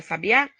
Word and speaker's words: sabiá: E contou-se até o A da palavra sabiá, pois o A é a sílaba tônica.